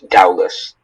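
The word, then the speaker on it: dowlas: Are there any alternate pronunciations? This is just dowless.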